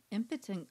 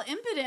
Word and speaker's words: impudent: Impotent cloud. That's good. Impudent? Oh, did I say it wrong? I was all impudent. I'm all, that's such an interesting. I said it wrong.